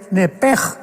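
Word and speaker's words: נפש: Pero la palabra hebrea es muy importante porque es la palabra nepesh con sh al final. Nep. En el hebreo se pronuncia eh la sh con j. Entonces la pronunciación hebrea es nepej.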